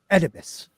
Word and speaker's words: Oedipus: Thebes is most famous for being home to Oedipus. I said it right. Nice. I didn't think I was going to. Ooh. Just ignore the O.